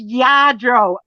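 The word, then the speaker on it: Lladró: Yadro, oh my God. I'm yelling at you through the screen. It's Yadro, and people are typing the double L in Spanish is pronounced Y, and you're not reading it.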